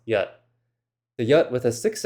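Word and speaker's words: jat: There are two different words spelled j a t, which is pronounced yat.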